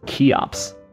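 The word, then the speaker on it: Cheops: to pronounce it it's key ops yeah that makes sense because there's a kai i know to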